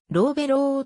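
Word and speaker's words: Lovullo: の監督を務める発音指示によるとロウベローとなっている愛称は去る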